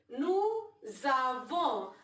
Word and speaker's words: nous avons: But together we will say nous avons. Another linking. S sound when goes to A, it changes to Z.